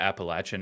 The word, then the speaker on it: Appalachian: raised in West Virginia so she's got the Appalachian accent and we've now lived thank you for